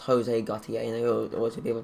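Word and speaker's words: José Gautier: I always knew his name was pronounced Jose Gautier, and I always hear people pronounce Jose, and I'm like...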